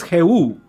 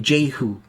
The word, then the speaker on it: Jehu: Oh, so my name is Jehu. In Spanish. It's in Spanish, Jehu. And pronounce in English? And in English, I pronounce my name Jehu.